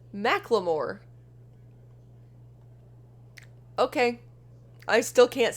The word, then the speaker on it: Macklemore: talk talk of dismemberment it's pronounced McLemore okay I still can't